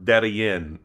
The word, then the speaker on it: Darien: now here I am, and I've gone to both sides of the Darien Gap, or Darien, you know, as it's pronounced here.